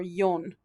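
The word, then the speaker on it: 四: talk about four people you don't want to say four dead people oh my gosh no so they're going to automatically flip to the pronunciation yo or yon on that okay no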